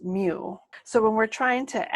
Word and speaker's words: mu: The mean is the population parameter, and we use the Greek m, which is pronounced mu.